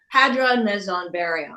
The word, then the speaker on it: Hadron, Meson, Baryon: I saw this I saw this song title and Hadron Meson Baryon. Hadron Meson Baryon. Thank you. And I knew I'd mispronounced that, but I thought, oh, that's interesting.